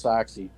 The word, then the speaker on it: Sachse: actually, actually, the last name is pronounced Sachse, and I had to teach my wife when we got married how to say my last name, and it's real simple. The socks go in the shoes, so Sachse.